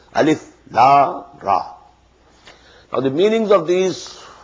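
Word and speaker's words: الر: These are pronounced separately, and so they are the broken into pieces. Not pronounced as Alif Lam Mim Alam, no. Alif Lam Mim. Alif Lam Ra Alar, no. Alif Lam Ra.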